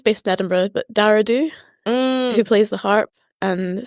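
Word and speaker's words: Dubh: Dara Do, how do you spell that? Dara, D-A-R-A, and then Do is D-U-B-H.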